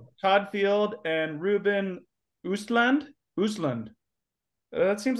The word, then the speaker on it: Östlund: Östlund.